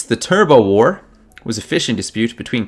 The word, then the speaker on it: Turbot War: The Turbo War was a fishing dispute between Canada and what other country? That's almost certainly going to end up being pronounced turbot. I get the feeling.